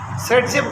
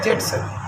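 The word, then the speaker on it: Зайцев: एस से कोई rule, जेड सेप rule, सेट जेब कहते हैं उसको, प्रोनाउंसिएशन करते हैं और लिखता है जेड सेप।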